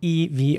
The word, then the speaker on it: evolution: an e evolution and the entire last part of the word the t-i-o-n is pronounced shin so not tion or something but evolution with a sure sound evolution Evolution sorry not